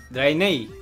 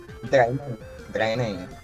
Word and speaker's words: Draenei: Tenemos humano, enano, elfo de la noche, un gnomo o un ¿cómo se pronuncia? Draenei. Draenei.